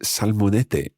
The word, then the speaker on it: salmonete: But in the recording, you'll hear the fishmonger pronouncing it as salmonete. And that's where the th sound, the th sound, if you like, is replacing s, as it happens in some parts of Spain. It's called ceceo, and we'll talk more about that in the language study episode. But it is written salmonete, even though he pronounces it salmonete.